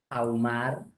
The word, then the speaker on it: ahumar: Claro, como la H es muda, entonces no se considera. Entonces yo tengo, por ejemplo, la palabra auto, que es sin H, separando en sílabas sería así, ¿sí o no? Nadie duda que es así. Auto. Si tuviera H intermedia, por ejemplo, así, ahumar, entonces también debo separar de esa manera, igualito así. Ahumar. La H como si no existiera.